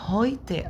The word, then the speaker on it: heute: ال اي او او الاي يو بالانجليزي اي يو او الاي او في الالماني بتنطق اوي.